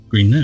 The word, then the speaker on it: Green Knowe: for her children's novels featuring the children of Green Knowe. I think I pronounced that correctly. Yeah. Green Knowe, yes.